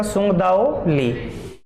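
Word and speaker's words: Tsung-Dao Lee: यह इसमें तय साइलेंट रहेगा, सुंग दाओ ली।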